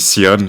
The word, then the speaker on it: Theon: Ah, toi, tu dis Théon? Ah, ok, moi, je prononce à l'anglaise, je dis Sion, mais ok, pourquoi Theon, pas.